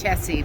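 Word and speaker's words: Chessy: No, it's Chesy, but anyway, which is a little town out here, but I think it's just kind of interesting that it's cheesy. I think the French just pronounce it chess.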